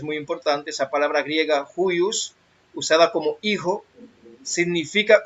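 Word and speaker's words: υἱός: Es la G5207, se pronuncia huios y significa a veces de animales, usado muy ampliamente de parentesco inmediato.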